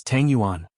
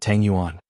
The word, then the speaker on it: Tangguan: Cheng Chimo glared and said angrily, "It's Tangguan, not Tanguan.